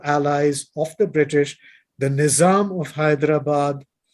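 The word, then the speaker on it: Nizam: of the British the nisam of Hyderabad or the NM as is pronounced in in Britain the world's richest man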